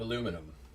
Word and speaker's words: aluminum: o 864 like aluminium there's no eye at the end of aluminum they're just pronouncing a thing that isn't even there but I I'll take